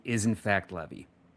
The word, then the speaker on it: Levy: the Brett clarification count, because apparently the correct pronunciation is in fact Levy or Levy. He says you can say both. You can say both, but apparently the the the more accurate pronunciation is Levy.